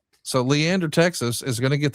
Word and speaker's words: Leander: I'm probably going to mispronounce the town. Does it sound right here, John? Leander Texas. It does. Yes. Yes, it does. So, Leander Texas is going to get the debut of